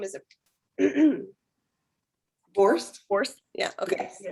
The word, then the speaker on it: Borst: Is it Borst?